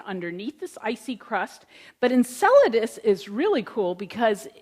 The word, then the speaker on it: Enceladus: people in the room this is pronounced Enceladus it is not pronounced enchilada or the other dozen things that I've heard it pronounced is actually Enceladus and it's another little